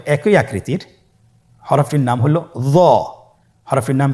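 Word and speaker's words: ظ: হরফটির নাম হলো জ। হরফটির নাম কি? জ। একটু মোটা করে বলতে হবে। হরফটি হলো মোটা হরফ, বারিক করে পড়া যাবে না এবং হরফটি উচ্চারণ করার সময় অবশ্যই 1 আলিফ টেনে পড়তে হবে।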